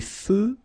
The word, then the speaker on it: feux: Des feux de circulation. So here, final X, not pronounced.